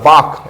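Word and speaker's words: bark: बाक यानी भकना होता बाक इसमें आर साइलेंट रहता है बाक बाक यानी होता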